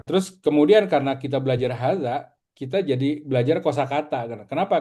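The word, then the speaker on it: هذا: Tapi kita tetap bacanya harus hadza ya. Jadi harus dua harakat.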